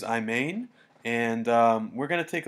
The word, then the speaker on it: Imane: video analysis this is I believe you pronounce it I main so this is I main and we're going to